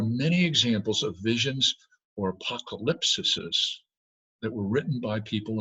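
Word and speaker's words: ἀποκάλυψις: that word revelation, is a Greek word that you could spell in English kind of like this: apocalypsis. And that's how you say it, apocalypsis. And that word has a historical and cultural background.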